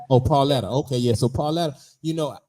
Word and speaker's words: Pauletta: Denzel Washington wife name you said it right pauletta oh pauletta okay so Paul you know I like that